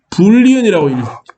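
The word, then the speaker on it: Boolean: 불리언이라고 읽는 게 정상이고요.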